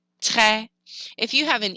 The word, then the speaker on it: très: An E with an accent grave is pronounced eh, like in the word jet. So the word très, it's an open E, très. A lot of people think that it's pronounced très, and they say, oh, très bien. That's not right. It's more open. It's très, très.